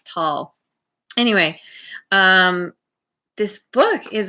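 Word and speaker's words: Tolle: eckhart tall i had to look up the pronunciation of his name because a lot of people say tully or tole and i'm like this guy's german they don't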